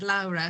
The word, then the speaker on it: Laura: I heard you pronounce it Lara because of course my my origins are back in Italy.